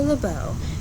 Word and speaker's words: LeBeau: napkin over my arm my name is lebeau the accent on the end make sure i'll be